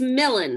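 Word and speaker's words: Melun: And it's Millen, right? Millen. Isn't it not Melon? It's not Melon. It's Millen. Millen. No, that's a different character. It's Millen.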